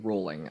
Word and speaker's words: Rowling: Yeah, no, it's rolling. I think it is. I think it's rolling. I always pronounced it Rowling, but nah, fuck her.